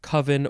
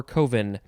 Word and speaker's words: coven: there is a debate over how to pronounce this word coven or coven so if you haven't